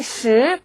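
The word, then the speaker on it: 十: 숫자 10은 10, 10 혀끝을 올린 상태에서 성조도 이성으로 올라가죠.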